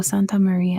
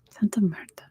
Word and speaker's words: Santa Marta: and I like look I'm like is that Santa Marta I'm pronouncing her forever it is Sierra NADA de Santa Mara Santa Marta not Maria anyway number 11 much